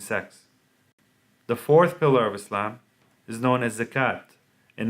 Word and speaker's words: Islam: It is pronounced with a hard S as in Sam, as opposed to a soft S or Z sound.